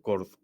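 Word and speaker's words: Chord: más conocida es esta que se pronuncia cord Sí bueno dht tiene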